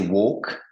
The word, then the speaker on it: walk: walk ouais donc là tu prononces pas le l c'est walk un L un L silencieux I walk ok donc